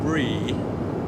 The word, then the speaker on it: Bree: The little girl is called Bree, and I'm assured that that's how it's pronounced.